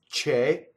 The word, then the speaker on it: che: So CE is che, CHE in Italian is K, right? And again, the K is like ge, but K, right? Very, very voiced, but yet unvoiced. So the word K is a strong monosyllable.